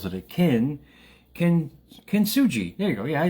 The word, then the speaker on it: kintsugi: I'll try to pronounce it in a lot of syllables that it kintsugi.